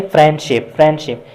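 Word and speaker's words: friendship: तो फिर जब हम इस फ्रेंडशिप को प्रोनाउंस करते हैं तो इसमें डी की जो साउंड है उसको प्रोनाउंस नहीं करते, जैसा कि फ्रेंडशिप।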